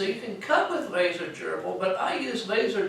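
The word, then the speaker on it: GRBL: program I use is called laser Geral or some pronounce it gerbal uh and it's good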